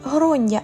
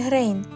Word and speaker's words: Gráinne: Її справді звати Грондя, а не Грейн.